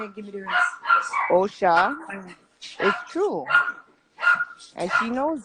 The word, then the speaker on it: Osha: She's like, oh, because I said Asha in the video, right? And then she's like, oh, you guys you don't even know how to pronounce the name good. So obviously it's okay. It's not Osha.